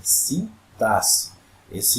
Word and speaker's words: sintaxe: da gramática chamada sintaxe Essa é a pronúncia correta de cintas e se x é pronunciado com letra com dois s né tem por objetivo